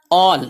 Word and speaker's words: all: WERE، ور، تھے۔ ALL، all، اسے آل نہیں پڑھنا، all، تمام، سب، کل۔ THERE،